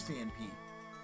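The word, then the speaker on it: Phanpy: Is it Fan Pete? Oh my god, it is Fan Pete. How have I been mispronouncing that my entire life?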